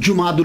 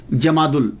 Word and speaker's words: جمادی: تھے آپ کے، 10 جمادی الاولی، یہ اکثر ہمارے ہاں مشہور ہو گیا ہے جمادی الثانی، جیم کے اوپر زبر نہیں ہے، جیم کے اوپر پیش ہے.